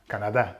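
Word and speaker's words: Canadá: Greg in can Canada Canada I was going to say that's how you pronounce it in Spanish Canada with an accent on the a we up to that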